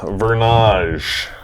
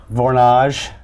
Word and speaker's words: Vornage: So, Vernage. Vornage. Vornage. You've been saying it wrong.